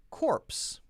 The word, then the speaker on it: corpse: I will teach you in my verse sounds like corpse. Ps, corpse. Core. Horse. And worse. Very different.